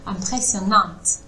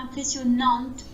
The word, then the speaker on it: impressionnante: Ouais, il faut juste pas faire le impressionnante. Il faut pas qu'il y ait le N qui se prononce.